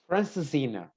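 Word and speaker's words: Francesinha: it looks what do you how do you pronounce this one ricardo francisina yeah um well you can say that it's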